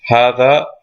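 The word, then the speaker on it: هذا: as i go along how that is pronounced hatha but is written without the first alif so what they're trying to say is that you have the ha over here it is not followed by an alif it is written without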